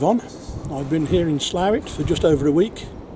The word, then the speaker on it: Slaithwaite: time to move on i've been here in slavic for just over a week yes i know